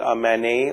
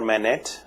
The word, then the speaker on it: MANET: so mobile ad hoc networks are sometimes called manet or manet depending on how you want to pronounce this and this particular company out based